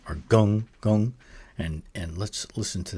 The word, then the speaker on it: 庚: with the macron across the top would be pronounced as a sound, or gong, gong. And let's listen to that again. Gong, gong.